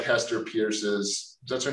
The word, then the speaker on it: Peirce: And I expect to get something that, like if you look at, say, like Hester Pierce's, that's her name? Yeah. Hester Pierce's Safe Harbor. Yeah. I know she pronounces it purse.